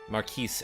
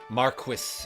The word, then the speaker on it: Marquis: Oh, that's that's probably the one with um Maris Elor Marquis, excuse me, is how they say it in this game.